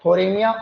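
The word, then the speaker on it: Phthorimaea: इसमें जो है इसका स्टार्टिंग स्पेलिंग होती है वह पी से होती है पी लेकिन वह आपके साइलेंट रहता है इसलिए हमको बोल रहे हैं थोरमिया ओपकुलेला एक किट तो ये हो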